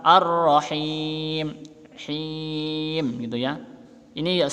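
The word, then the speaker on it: الرحيم: alif lam syamsiah ya ar-rohim ini roknya asdit maka harus ditekan ar-rohim shrimp gitu ya ini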